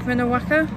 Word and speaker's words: Minnewanka: and here we are by the it's actually pronounced uh minute Waka Lake minnewaka there we go but yeah we are now